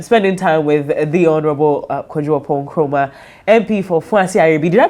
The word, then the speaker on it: Oppong Nkrumah: a wonderful time spending time with the honorable Kuon Chroma MP for FB. Did I pronounce that well?